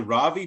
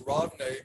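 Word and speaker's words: Ravne: we're talking about the is it the ravi tunnel mate is that is that how you say it it's rodney okay and yeah rodney means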